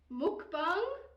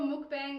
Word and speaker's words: mukbang: So what we're going to do, it is kind of pronounced mukbang, muki, Bang. bangi.